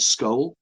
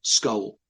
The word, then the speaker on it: Scole: in a village called Skull in Norfolk in the UK. You might have to spell that for people who are not familiar with the UK. Okay, SCOLE, Skull.